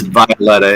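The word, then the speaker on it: Wioletta: So it is Violetta. The W is pronounced as a V.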